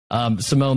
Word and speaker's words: Simon: It's Simone Hammer, and it's spelled like Simon.